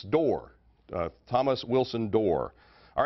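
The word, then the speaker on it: Dorr: Rhymes with war and roar, it's Door.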